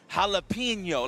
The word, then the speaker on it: Jalapeno: So let me pronounce this man's name right. Jalapeno, like jalapeno. Jalapeno, not jalapeno. Jalapeno. Yeah, it's yo. I don't even know why I'm stressing it.